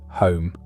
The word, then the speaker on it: Home: David Hume was born on April 26, 1711, though for most of his life he spelled his family name Home, pronounced the same way.